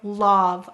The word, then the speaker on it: love: i will tell students say to spell love i'll just exaggerate it silent finally why do we